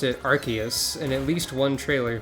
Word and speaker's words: Arceus: to edit things quickly enough in they've officially pronounced it arceus in at least one trailer for the game